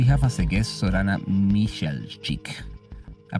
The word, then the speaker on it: Mihelčić: Today in our episode 146, we have as a guest Sorana Mihaicic. I pronounced it right? Yes, yes, almost. Mihaicic.